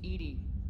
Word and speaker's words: EDI: Why are you named Edie? Edie is the phonetic pronunciation of EDI. That is an acronym for Enhanced Defense Intelligence.